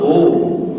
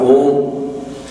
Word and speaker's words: Om: Like A merges into U when you pronounced Om.